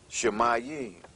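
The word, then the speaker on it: שָׁמַיִם: you go any further the word Heavens in Hebrew is pronounced shmay mhm which has the connotation of Mayim which is water so it it it all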